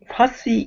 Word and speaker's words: fussy: I said fussy eater. It's not the English word. Fussy. Fussy eater, yeah. I thought Pronunciation. you said fuzzy. Yeah, well, I said fuzzy, but fussy eater, yes.